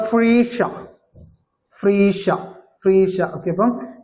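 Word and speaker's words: Phryges: ഭാഗ്യചിഹ്നം ഭാഗ്യചിഹ്നം എന്താണ് ദ ഫ്രീഷ ഫ്രീഷ ഫ്രീഷ okay അപ്പൊ ഫ്രീഷ എന്നാണ് ഫ്രഞ്ച് ഭാഷയിൽ അതിന്റെ ഉച്ചാരണം വരുന്നത് അപ്പൊ ഫ്രീഷ അതാണ് അതിൻറെ ഭാഗ്യചിഹ്നം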